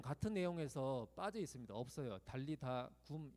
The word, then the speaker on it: 달리다 굼: 그러니까 우리는 달리다굼이라고 하는데 그렇게 하면 안 돼요. 그러면 소녀 야 일어나 이렇게 되는 거예요. 원래는 달리다 굼이 되는 거예요. 그게 자연스러운 이제 어순인 거죠. 달리다 굼이 되는 거예요. 소녀야 일어나라 이렇게 발음합니다.